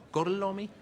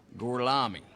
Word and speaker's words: Gorlami: Gorlomi? Lo pronuncio correttamente? Sì, corretto. Gorlomi? Per cortesia, me lo ripeti ancora. Gorlami.